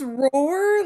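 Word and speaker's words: Rohrer: it's Roar. Like that's how I Yeah. heard them pronounce it with the It press is conference.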